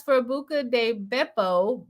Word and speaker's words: Beppo: Julia says, for Buca de Beppo, Beppo is like beep. Okay, Beepo. It rhymes with the beginning of Pepto.